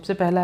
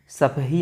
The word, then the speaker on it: सपाही: एक महत्वपूर्ण तथ्य यह है कि यह जैविक उद्यान सपाही नदी के किनारे स्थित है। इसलिए, हम इसे आसानी से सपाही नदी से जोड़ सकते हैं। 'सपाही' शब्द का उच्चारण 'सिपाही' ( सैनिक) जैसा होता है, और मुंडा विद्रोह के